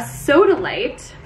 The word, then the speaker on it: sodalite: supposed to be a soda light soda light it sounds like a soda the light version but it's spelled s-o-d-a-l-i-t-e i have it up